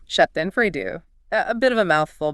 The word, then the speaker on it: Schadenfreude: It's pronounced Schadenfreude. Schadenfreude.